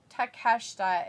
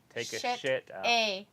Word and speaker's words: Takeshita: Takeshita is his name. Don't try to sound it out in American. Or you'll say, take a shit out.